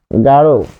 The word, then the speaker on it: গাঢ়: রয় বিন্দু ড যদি থাকে, তাহলে থাকলে উচ্চারণে ও হবে। কিরকম? যেমন গাঢ়, গাঢ়, এটি হবে কি?